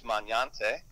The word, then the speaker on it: Magnante: My dad was a high school teacher, which is going to the way I say it now. He just said three syllables. My grandmother, the correct way to say it is Magnante. Ooh, this is Italian.